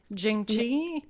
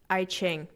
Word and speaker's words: I Ching: What is, now I've lost the correct pronunciation, but you said it's based on like astrology, has the chakra system, and Jing Chi, or sorry, what The did... I Ching.